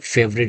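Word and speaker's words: favorite: প্রথমে আমরা দেখতে পাই who's your ফেভারিট restaurant. ফেভ, ফেভ, দুই ঠোঁট দিয়ে নিচের ঠোঁট এবং উপরের দাঁত দিয়ে উচ্চারণ হবে।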